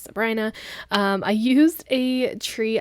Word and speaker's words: Sabrina: Lake Sabrina and I know it's looks like Sabrina but it's pronounced Sabrina um I used a tree icon from Once